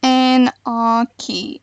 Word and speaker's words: Anarchy: Apparently it's Anarchy. Anarchy? Is that what it's been the whole time? So welcome back to Anarchy Prison Server.